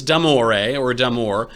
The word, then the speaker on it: Damore: His name is James Damore. I'll pronounce it the Italian way, because I want to